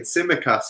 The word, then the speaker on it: Tsimikas: Jim says, apparently the T in Tsimikas is silent.